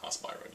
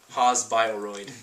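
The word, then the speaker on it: Haas-Bioroid: There's no accent on Haas Byroid. You can say it. Haas Byroid. Yeah. That's what it's called. You don't have to say it like yeah.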